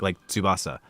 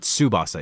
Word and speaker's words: Tsubasa: I always try to remember that TS. It's like Tsubasa. Like it's not Tsubasa, it's Tsubasa. It's a weird like little thing to pronounce. Tsu.